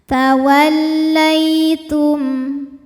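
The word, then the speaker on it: تولّيتم: Fa in tawallai, lai ada harfulin, sebab ada ya sukun didahului harokat fathah, maka bacanya lembut. Tawallaitum. Berikutnya ada hukum izhar syafawi, karena mim sukun menghadapi huruf selain mim dan ba, yaitu huruf fa. Maka mim sukun dibaca dengan jelas.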